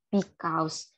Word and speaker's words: because: Terus ada lagi itu tuh sebagai because. Tetapi untuk pronunciation dari ini, kita tuh bisa mengatakan bentuk Z di belakang.